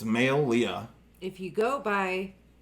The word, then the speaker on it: Maileah: or something like that malia no it's not malia it's male leah if you go by